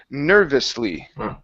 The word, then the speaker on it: nervously: The word is nervously. Nervously. Okay, good. Hit that V. This V right here. Get a good V sound.